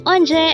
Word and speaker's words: 언제: this is used to ask when again it's anje and this is used to ask about date